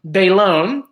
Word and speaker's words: Bailon: can't pronounce last name so she phonetically right they loan Adrienne Bailon Bailon because as you guys